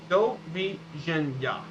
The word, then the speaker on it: doviđenja: Doviđenja. So goodbye is doviđenja. Because the D sounds like a J in this one, and the J in after ja is ya.